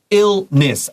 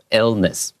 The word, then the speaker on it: illness: Illness.